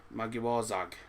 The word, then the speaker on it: Magyarország: How's it pronounced? Magyarország or something. Magyarország.